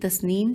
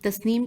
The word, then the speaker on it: تسنیم: طرف بہیں گے، لیکن تسنیم چشمے کا پانی جنت کے زیریں طبقے میں نہیں آئے گا۔ تے سین نون یہ میم یہ ہجے ہے۔ تسنیم چشمے کا پانی